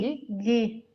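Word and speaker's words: ghee: A Cláudia está me dizendo que tem Gui, né? Como que pronuncia? Gui, Gui, manteiga nos clarificada.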